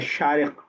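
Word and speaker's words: شارق: वो शीन से रहता है, शारिक, जो हम नाम में इस्तेमाल करते हैं।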